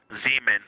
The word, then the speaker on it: Zeeman: Zeeman. Okay, and can you say the first letter? I may be pronouncing that wrong.